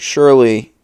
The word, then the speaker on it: surely: Do this, do that, and slowly but surely. I keep saying Shirley like Shirley Temple, and that's not how you say it.